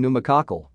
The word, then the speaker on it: pneumococcal: Only the N sound in PN is pronounced, as in pneumococcal.